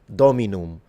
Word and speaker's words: dominum: And I'm specifically pronouncing the M because in ecclesiastical pronunciation, the M is supposed to be fully pronounced just like in Italian. If I was reading this in classical, the M would be completely nasalized.